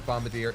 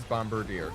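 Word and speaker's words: Bombardier: Earnest the bombarder and I did not mispronounce Bombadier it is bombarder I was going to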